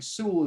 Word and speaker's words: Sewell: penny sue penny sewell i think sewell is how you pronounce his name it's penny sewell um you